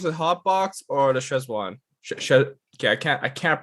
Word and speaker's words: Szechuan: I think I'd go with the hot box or the Szechuan. Okay, I can't pronounce that for my life, but Szechuan?